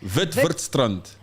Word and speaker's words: Witwatersrand: Witwatersrand.